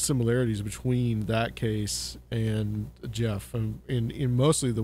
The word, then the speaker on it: Gef: just the Jeff than the way Jeff is spelled you know G but it's it kind